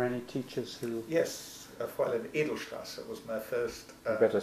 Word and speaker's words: Edelstrasse: Yes, Fräulein Edelstrasse was my first you better spell that. teacher. Edelstrasse, so edel like in noble, E-D-E-L, and Strasse must be from Strasse, S-T-R-A-S-S-E-R, Edelstrasse.